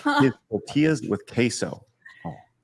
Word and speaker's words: tortilla: Marksman of 117B says, does Arch like his tortillas with queso? Oh. It's pronounced tortilla.